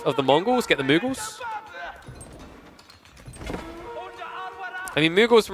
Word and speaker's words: Mughals: Unless I'm just saying it wrong all these years, but I'm pretty sure it's Mughals, not Muggles.